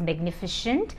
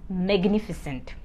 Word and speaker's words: magnificent: It is not pronounced as magnificent. It is pronounced as magnificent.